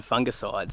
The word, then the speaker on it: fungicide: I was just looking on the internet the other day on fungicides and I saw that Americans pronounce it fungicide, is that right?